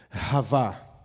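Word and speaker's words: חוה: Havá.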